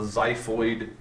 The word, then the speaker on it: xiphoid: part is called the xiphoid process it's pronounced like a z like zy but it's actually spelled with an x just to make it